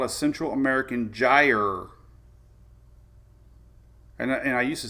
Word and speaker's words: gyre: That's basically called a Central American gyre. And I used to say it, I have the worst pronunciation of anybody, but somebody told me it's like a tire, like a gyre. So it's like a gyre, whatever that means.